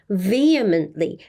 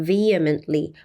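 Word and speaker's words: vehemently: 좀 생소하실 수가 있는데요 vly VE 여기에 강세가 있습니다 vly 뭔가 강하고 격렬한 본인의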